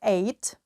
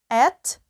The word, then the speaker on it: ate: водити автівку друг їсти також можна вимовляти як eight два варіанти вимови є AT AT перша колоночка ІТ їсти